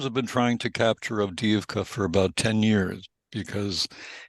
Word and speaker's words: Avdiivka: Am I pronouncing that right? Avdiivka.